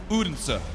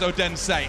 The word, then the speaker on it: Odense: much for telling me how to pronounce this city how am I doing here uder good listen it's better than the American guy who says odense anyway we have got